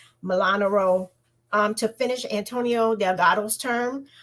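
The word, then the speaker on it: Molinaro: The first race is Pat Ryan versus Mark Milan. I keep getting this man's name wrong. Milanaro, to finish Antonio Delgado's term in Congress.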